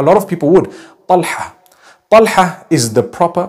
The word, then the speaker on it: Talha: Talha is the proper pronunciation.